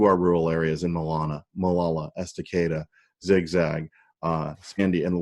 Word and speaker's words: Estacada: Gresham, Troutdale, Fairview, Estacada, and I keep saying it wrong, Estacada, Molalla.